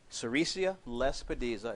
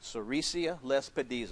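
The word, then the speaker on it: sericea lespedeza: and here's some of the things I recommend cesia Les peda is a wonderful plant for keeping your worm load down in your goats sesia Les dies are write that down very important yes it's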